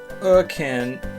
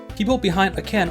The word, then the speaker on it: A'Can: Nunca estuve seguro de cómo decir "A'Can" correctamente. uh-Can, Ae-Can o Ah-Can ... hasta que lo escuché en el juego por primera vez aquí.